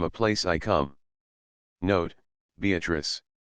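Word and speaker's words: Beatrice: place I come note beatric I use this word as it is pronounced in the Italian as consisting of four syllables of which the third is a long one Revisited with joy Love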